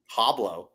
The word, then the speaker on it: hablo: Yeah, hablo español. Yeah, hablo español. Hablo. Yo. You don't pronounce the H. It's not hablo. Yeah, it's like Hablo. It's like Pablo.